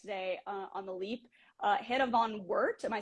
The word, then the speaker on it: Van Woert: Hannah Van Woert, am I saying that right? Mm-hmm. I definitely typed it into a pronunciation thing 10 minutes ago and was like, I think this is how you say it.